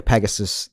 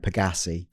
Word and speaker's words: Pegassi: I think you called it a Pegasus, which of course you meant Pegassi.